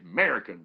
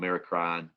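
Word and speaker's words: merocrine: we associate with sweat american that's uh that's how i say it american kinda like america american but you might hear it called mericrine or americreen then you have another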